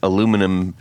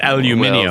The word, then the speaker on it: aluminium: on because he makes aluminum uh neck bases or in the UK Mhm. aluminum aluminium. All of them say it wrong, but anyways um the uh I'll Yeah.